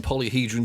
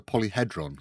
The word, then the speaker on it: Polyhedron: It is hedron, not hadron.